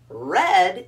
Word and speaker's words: read: but in the r-e-a-d red is the past tense of reed what yeah it's pronounced just like the color red huh yeah i read